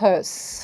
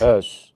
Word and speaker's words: Höss: Porque aparece esse sujeito, o Rudolf, como é que é a pronúncia em alemão? Rudolf Höss. Höss.